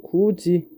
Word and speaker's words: 굳이: 자, 여기서 다시 예시를 한번 보면 자, 같이 아니면 굳이 같은 거를 우리 발음하면 같이 그리고 굳이 이렇게 발음이 바뀌게 되죠. 자, 여기서 뭐가 바뀌었냐라고 하면 여기 있는 디귿과 여기 있는 티귿이 뭘로? 치. 그리고 지으로 바뀌게 됩니다.